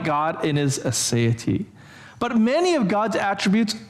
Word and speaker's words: aseity: It's aseity, right? It's A-S-E-I-T-Y, aseity.